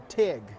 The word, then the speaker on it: tyg: I'm making here is a TIG it's spelled tyg they a lot of